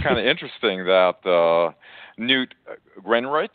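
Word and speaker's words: Newt Gingrich: of interesting that uh new greenrich that's the right way to pronounce his name uh you know he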